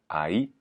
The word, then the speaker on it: ahí: Ensuite, Aï, Aï, avec l'accent sur le I, pour dire là.